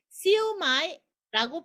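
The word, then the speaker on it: 燒賣: 근데 얘는 새우와 돼지고기가 들어있고, 광동어로는 시우마이입니다. 시우메 시우지야. 시우마이라고 표현을 합니다. 시우마이. 자, 그래서 시우는 이렇게 시우는 뭐냐면 불에다가 이렇게 지지고 볶는다, 이렇게 굽는다라는 시우거든요. 그래서 시우마이입니다. 요 시우마이가 하카오 시우마이는 딤섬집에서 가장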